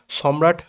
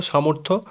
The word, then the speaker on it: সামর্থ্য: অনেকে আবার ভুল করে এই পোর্টালটিকে সম্রাট পোর্টাল বলছেন। দয়া করে এই ভুলটি করবেন না। এই সঠিক উচ্চারণ হলো সামর্থ্য পোর্টাল।